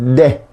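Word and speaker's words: ndé: Ahí se escribe N, D y la E.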